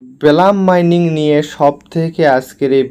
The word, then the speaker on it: Blum: তো শুরুতেই যে বিষয়টা ক্লিয়ার করব, তো অনেকে আমাকে আসলে বলেন যে ভাই এটা ব্লাম উচ্চারণ হবে না বুলুম উচ্চারণ হবে।